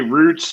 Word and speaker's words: routes: Yes, okay, well, routes. Routes is another way to pronounce the same word. It could be roots depending on where you're from.